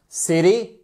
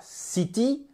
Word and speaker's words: city: On ne dit pas city, on dit city.